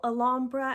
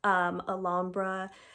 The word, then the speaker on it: Alhambra: So I definitely like either the single Alhambra, I believe is how you pronounce it, of the Van Cleef,